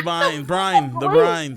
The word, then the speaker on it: Brine: They kept saying your name wrong. Right? Yeah. Or they pronounced name wrong. Beans. The brines. And I had to go like correct them. And I had to go correct it. Brine. Yeah. Brine.